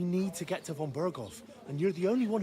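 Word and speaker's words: Bergow: who we are Von berov see how W but he says V most of the characters pronounce W's as V's in this game and even if you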